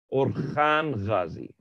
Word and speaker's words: Orhan: Before we say that, we must talk about Uthman's son, which his name is Orhan Ghazi, O-R-H-A-N. But H is pronounced Kha, so it's Orhan Ghazi.